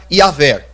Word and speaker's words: Yahvé: a tese de que a pronúncia mais exata, o que chega mais próxima da pronúncia correta do nome de Deus, levando em consideração a transliteração do tetragrama, seria Yahvé. Amém?